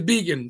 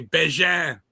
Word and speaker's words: Begin: Well, from the man himself, what is the correct pronunciation? It's vegan. Yeah. Well, Yep, Bégin see? in Canada. If we were in There St. George, Canada, they'd say Bégin, but it's vegan.